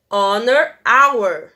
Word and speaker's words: honor: Honor, honor, que tá aqui embaixo. Vocês estão vendo que a gente não consegue ouvir o H.